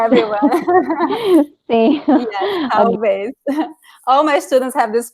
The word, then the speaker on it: talvez: The only detail that I noticed is the talvez because of the L. This L is a lot. Sim. It's a hard part for everyone. Sim. Yes, talvez.